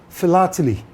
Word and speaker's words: philately: The first syllable in these two words both sound the same. Phil. And so if you ask